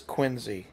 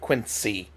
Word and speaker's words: Quincy: He says Quinzy instead of Quincy.